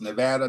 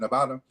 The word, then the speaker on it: Nevada: the way I come from a state where pronunciation matters it's Nevada not Nevada Nevada you might get upcharged and it ain't